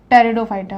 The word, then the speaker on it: टेरिडोफाइटा: है उसका नाम है टेरिडोफाइटा अ मैं इसमें जो पीछे होता है वह साइलेंट रहता है ए टैबू फाइटर्स होता